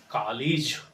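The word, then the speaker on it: college: हम लोग यूज़ करेंगे कॉलेज। सही प्रोनाउंसिएशन क्या होगा? कॉलेज और नॉलेज एक जैसा दोनों का साउंड होगा।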